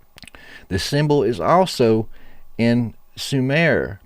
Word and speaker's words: Sumer: symbol is also in Sumer pronounced shumer much like the word shimmer meaning to glow like they